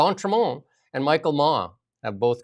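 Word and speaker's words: d'Entremont: Um, and that's uh so Chris Dantron, how do you say that again? I'm like terrible. Don, Don Tramon and Michael Ma have both crossed over to the Liberals.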